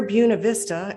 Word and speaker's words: Buena Vista: in glen alta georgia near buena vista and that's the way they pronounce it where he eventually built